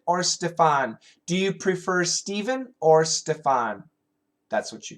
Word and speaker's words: Stephen: there's a famous author Stephen King Stephen King s p h n he pronounces it like S V there's a famous